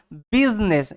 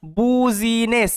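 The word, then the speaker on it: business: শব্দ ভালোমতো দেখে রাখবেন এটা কিন্তু বুঝিনেস এরকম উচ্চারণ করবেন না এটা বিজনেস ঠিক আছে মাথায় রাখবেন এটা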